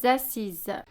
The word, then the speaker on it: assises: Par contre, le s on le prononce pas.